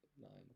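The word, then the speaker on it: 二: Pronounced ni.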